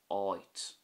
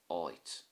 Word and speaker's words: áit: But if you put a fada over the A, it becomes oit, which means a place. So without the fada it's at, and with the fada it's oit.